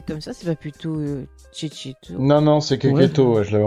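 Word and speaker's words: Checchetto: Marco est un dessinateur italien. Et donc ça se prononce Cecchetto. D'accord. Ah, c'était ça la surprise? Ah bah ouais, mais attends, le mec s'appelle Marco Cecchetto.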